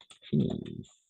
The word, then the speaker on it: finissent: Nous finissons, vous finissez, et ils finissent. Et ils finissent. D'accord? ENT à la fin, on ne prononce jamais.